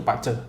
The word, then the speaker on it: BaZi: itu taunya bazi acara tulisannya bazi cuman kita bacanya itu Pacet Oh gitu ya ya